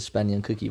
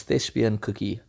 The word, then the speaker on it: thespian cookie: it with the C I want to say the spending cookie but it's not I must apologize I said it wrong the first video that I did of him it's thespian cookie so thank you for